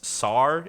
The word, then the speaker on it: Sarr: It's Alex Sarr is how you say last name, and then the other That's correct.